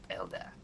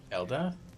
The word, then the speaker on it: Elda: youer it is pronounced Elda Elda there's no G I